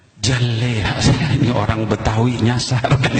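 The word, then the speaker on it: جلاها: Bukan juleha, Bu. Jaleha.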